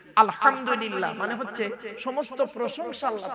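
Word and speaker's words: الحمد لله: আলহামদুলিল্লাহ সূরা পড়েন না আলহামদুলিল্লাহি রাব্বিল আলামিন আলহামদু গলার ভর থেকে উচ্চারণ বাপেরা হাতে ধরে বলে যাচ্ছি আলহামদুলিল্লাহ মানে হচ্ছে সমস্ত প্রশংসা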